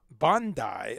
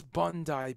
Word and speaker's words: Bondi: outbreak that they've traced in bandai i believe is how you pronounce it i thought it was bondi i've been to bandi beach but i i think i've been told it's bandai yeah mate it's bondi beach my australian accent's not